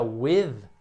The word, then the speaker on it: with: Quando você pronuncia with, né, o som, esse TH tem só no final, então o primeiro som é we. E daí no final você põe a língua entre os dentes. With. Você faz o finger test, a sua língua tem que encostar no seu dedo quando você diz essa palavra.